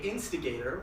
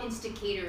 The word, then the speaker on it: Insticator: But a lot of people mispronounce and say instigator, which is kind of okay though.